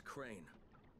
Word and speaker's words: Crane: the video store no my name is crane okay crane rhymes with train and brain and sign and grain and rain and plane and the other